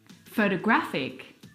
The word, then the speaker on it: photographic: The third example, photographic. The stress is on the third syllable.